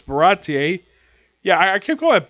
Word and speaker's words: Baratie: I thought it was Bastille, but it's Baratie.